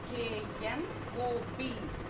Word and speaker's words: knob: Here, K-N-O-B. What is the pronunciation? Knob. Not knob. K is silent letter. Don't pronounce knob.